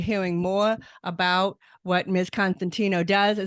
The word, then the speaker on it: Constantinou: pronounce your name right well almost it's Constantino constant no I did not pronounce it right at all uh Constantino which sounds much prettier than what I said so I apologize for